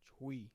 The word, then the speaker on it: Twi: Chui is how it says. It's spelled with a T, bro, not a CH. Yeah, but it said Chui. Wait, SH? Shui? Shui? Chui. Shui? Sway? CHWI. Think of it that way.